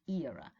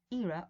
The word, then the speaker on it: era: i said era yes british english era american english era or era right when we speak